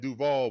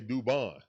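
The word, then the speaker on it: Dubón: We say it like Duvall, but we say Dubon.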